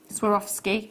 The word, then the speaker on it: Swarovski: The first part, of course, was this Swarovski, that's how you say it.